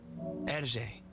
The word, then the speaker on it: Hergé: but himself that he changed his name to his own initials written backwards, pronounced in French. Hergé.